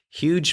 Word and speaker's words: huge: Huge means really big and is a word that I hear being mispronounced all the time. It finishes with a J sound, which can be tricky for some nationalities.